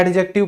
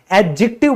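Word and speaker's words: adjective: तो दोस्तों याद रखिएगा यह जो डी है ना यह हमारा साइलेंट होता है। तो कई जो मैंने टीचर देखे हैं वो कहते रहते हैं एडजेक्टिव पढ़ाएंगे। आज एडजेक्टिव करेंगे। यह बिल्कुल गलत प्रोनंसिएशन है। एडजेक्टिव बोला जाता है क्योंकि डी तो है ही नहीं यहां पे।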